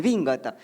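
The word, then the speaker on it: 紅型: Por lo general estas túnicas femeninas, van a ser elaboradas justamente con esta técnica del bingata.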